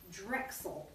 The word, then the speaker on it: Drechsel: It's like Drexel. And I'm sure, I wasn't born in Drechsel, but I'm sure the Germans that came over had the same problem we have pronouncing it, so they just changed it to Drexel. But it's Drechsel.